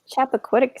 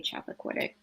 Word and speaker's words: Chappaquiddick: I think Chappaquiddick sounds about right. That's the name of her very first podcast episode. Yeah. Is referring to that. Yeah, I would say Chappaquiddick, but something close to that.